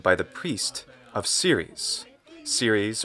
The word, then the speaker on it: Ceres: Ceres, or Ceres in the Italian pronunciation of Latin, being the goddess of the harvest.